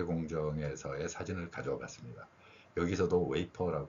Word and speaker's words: wafer: 지금 삼성전자 반도체 공정에서의 사진을 가져 봤습니다 여기서도 웨이퍼 발음 했죠 근데 앞에서 어 재과 회사에서는 웨하스 발음을 했고요 이러한 그 F 발음에 대해서도 이런